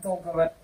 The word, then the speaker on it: договор: Договор.